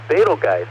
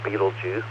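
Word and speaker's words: Betelgeuse: slide number 15 please a famous star in Ayan called balge or Beetle Juice just don't say that name in that pronunciation three times in a row it's also called Alpha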